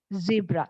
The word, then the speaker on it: zebra: British English so when we look at the British English pronunciation of the word zebra that is z EB R A the second first sound we know it is z z sound Z okay Z and the second sound is a as a net pet second sound is a